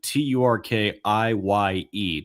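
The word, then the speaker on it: Türkiye: Yeah, so instead of turkey and you spell it like the bird that is on your plate at Thanksgiving, you spell it Turkiye, Turkiye.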